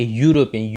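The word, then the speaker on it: European: पे हम एन लगाते, पर यहाँ पे आ आएगा क्योंकि हम यहाँ पे इसको हम कॉन्सोनेंट के यूरोपियन यू से स्टार्ट करना पड़ता है, ई इसमें साइलेंट होता है।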